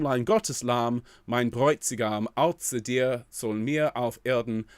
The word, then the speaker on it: Außer: That little symbol there that looks like a capital B. That's the SZ, and that's pronounced with quite a harsh tz at the front of the mouth. Außer dir soll mir auf Erden.